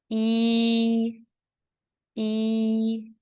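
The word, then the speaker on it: 一: more time how to say one in Chinese e e okay number two r r and number three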